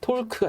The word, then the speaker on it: torque: 영어로는 TORQUE가 되죠. 톨크가 돼요. 톨크. 예. 발음 잘 해보세요.